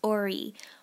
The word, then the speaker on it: Ori: you is the or sorry it's pronounced Orie o r i Orie